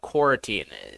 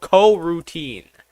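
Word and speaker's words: coroutine: trying to find what cortine is uh cor cor oh wait I've been pronouncing it it's C co- routine co- routine I pronounced it wrong co- routine uh co-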